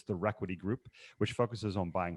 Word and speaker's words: ReQuity: so regularly right yeah yeah sometimes i purposely mispronounce it just to bug him but uh yeah it's it's it's requity and i i see re and i always